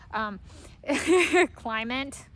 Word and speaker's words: Clement: who's a Russian, but I kind of pronounce that almost more like it's French. Climate. Pronounce it like it's climate.